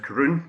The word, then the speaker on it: Caorunn: So today we're going to be covering Caorunn, pronounced Caorunn, you can see phonetically at the bottom.